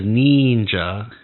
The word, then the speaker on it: Neenja: So when she says Neenja, she's pronouncing the I as an E.